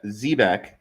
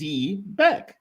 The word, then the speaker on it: Zebec: So, Ze, Zebeck, also spelled like they spell it, Zebac, and said phonetically here is Zbeck. But of course, the the COO says Zebec. So, we can say Zebec, we can say Zbec.